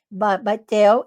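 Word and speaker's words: Bethel: Eh, então, provavelmente a a inscrição é pronunciada Baitel e Anat Baitel, né?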